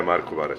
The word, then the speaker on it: Marko Barac: Am I saying it right? Yeah, Marko Barac. Barac. Okay. I didn't know if I had the pronunciation right. Yeah, but you're good.